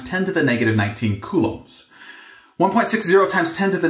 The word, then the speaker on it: coulomb: And I usually say coulomb, but it is also sometimes pronounced coulomb.